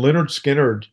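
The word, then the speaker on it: Lynyrd Skynyrd: their self-titled debuts and Leonard Skinner emerged with pronounced Leonard Skynyrd that's the name of the album there I'm guessing their management was worried how their name might be pronounced as Leonard skinard uh yeah well at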